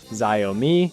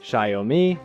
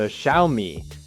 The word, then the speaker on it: Xiaomi: Some say Xyomi, some say Shyomi, some say Zomi. And honestly, most people just avoid saying it out loud altogether. Officially, it's closer to Xiaomi.